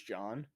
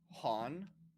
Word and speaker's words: John: i know and because in uh spanish language uh j sounds like an h so that's why instead of saying uh jesus they say jesus so they kept saying my name han han because they can't say john oh yeah so instead